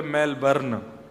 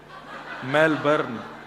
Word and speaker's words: Melbourne: हमारे एक भैया बोले मेलबर्न जो मैल को जला दे मेलबर्न मैंने कहा नहीं मेलबर्न र जो है वो साइलेंट बोलो तो लेकिन हुआ क्या यहां